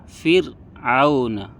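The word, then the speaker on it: فرعون: Setelah ra ada huruf istifal, maka cara membacanya adalah tipis. Contoh Fir'auna. Ra-nya tipis, Fir'auna.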